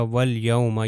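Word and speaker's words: واليوم: लाम से मिल जाएगा यह बेसिकली लाम के ऊपर सुकून है तो यह हो जाएगा वल यौमा यह देखिए अलिफ लाम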